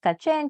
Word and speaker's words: Cache: by the name of kache pronounced kachen keeping with the spanish pronunciation of the french cache the vibrant murals of